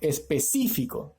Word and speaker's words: específico: Específico, ¿no? Está escrita sin tilde, en el otro punto encontramos cuál es su sílaba tónica, específico.